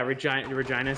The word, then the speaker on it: Regina: So, Vank, is it pronounced like vagina or is it pronounced like Regina? Vank's from whatever that is. Yeah, Regina, Saskatchewan.